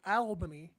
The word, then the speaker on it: Albany: Ottawa versus Albany, as the Canadians are called Albany. Listen, not all of us. There are a select few that, for whatever reason, pronounce it that way. Like Albert from Albert.